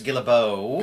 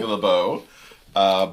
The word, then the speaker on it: Guillebeau: Chris Guillebeau, who I probably just mispronounced his name, so you want to correct that for me? Chris Guillebeau. Guillebeau.